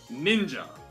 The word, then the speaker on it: ninja: as a rare case it is pronounced as ja and thus this shinobi no mono could indeed be shortened and read as ninja but you see true